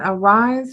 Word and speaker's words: Ari'ze: okay well i've got a rise women network which is spelled a little different ari apostrophe zs and zebra e but it is the word arise i derived it from